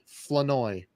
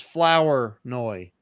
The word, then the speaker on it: Flournoy: Flanoy. I Flanoy. used to think it was Flower Noy. I'm like, dude, why don't you take out the OUR and put in an A? Just make it Flanoy.